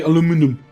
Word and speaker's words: aluminum: Yeah, I need steel and then aluminium. Also, when you're on the research... Or like the Americans say, aluminum.